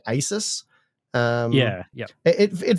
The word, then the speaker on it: Asus: up to Taiwan like this is it's actually a soos Asus so it's one of the less optimal